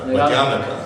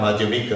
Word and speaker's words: Madhyamaka: Nagarjuna, Madhyamaka, ja, not Madhyamika, ja. America, not America. That's the example I always use to demonstrate it's not America, it's America. Two short syllables at the end.